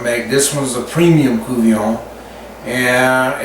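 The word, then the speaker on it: courtbouillon: about 15 years old it's called a cuvion that's spelled c-o-u-v-i-l-l-i-o-n but it's pronounced cuvier and you make it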